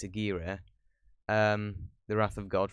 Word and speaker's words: Aguirre: always thought it was either aguirre or a gear but it's not it's a gear um the wrath of